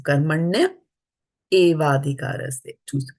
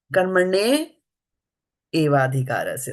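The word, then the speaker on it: कर्मण्येवाधिकारस्ते: And that's not the way to pronounce it because there's a gap here, right? They're two separate words. So karmane evadhikaraste, right? Evadhikaraste, like that. So karmanya evadhikaraste.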